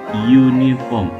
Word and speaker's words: uniform: konsonan nama kayak gini walaupun di tulisannya unifox tapi dibacanya uniform seolah-olah ada huruf y jadi hiu makan di